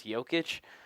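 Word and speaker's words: Jokić: only comes because Americans don't know how to pronounce Hyo kitsch but there that was like a good Joker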